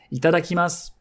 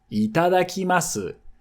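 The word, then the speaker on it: いただきます: This brings me to the next phrase, which is itadakimasu. Itadakimasu.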